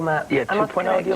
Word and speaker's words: 2.0: And you worked with 2.0, Matt. Yeah. 2.0.